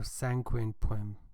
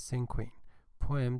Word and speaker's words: Cinquain: I'm going to give a presentation on a very short article entitled Cinquain Poem or Cinquain Poem. There are two pronunciations, but the official pronunciation is Cinquain Poem, definition and best explanation with examples.